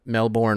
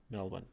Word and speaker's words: Melbourne: want to rehearse this Melbourne Melbourne Melbourne Melbourne Melbourne Melbourne Melbourne trying to say it like an Australian if I was Nicole